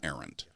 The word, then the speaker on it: Arendt: One way was articulated by the philosopher, I'm going to use the Americanized pronunciation of her name, Hannah Arendt, who grew up in